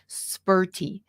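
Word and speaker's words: Sperti: absolutely I can Bertie I sometimes don't pronounce my T's spurty s p e r t i please read the directions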